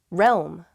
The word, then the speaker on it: realm: with this important deal realm realm i see why this one's hard it's that rome part little realm it's a weird word